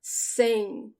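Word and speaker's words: cem: 100 is saying we do not close our lips when the words end in m saying saying you only say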